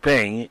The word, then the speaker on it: PNG: portable Network Graphics or ping this is the latest format PNG pronounced ping is a format specifically